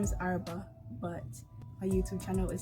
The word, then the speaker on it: Araba: r a b a i put the h's in there to emphasize the letters because people mispronounce my name a lot so the h is